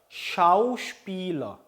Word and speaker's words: Schauspieler: 자, 그 다음에 der Schauspieler, Schau 끊고 Spieler입니다. Spieler. 자, Spiel 할 때도 이에 길죠. 이 Spiel, Schauspieler.